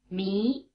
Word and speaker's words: Mi: Mi, mi, mi. Notice that the sound E is spelled with an I, as in Tahiti.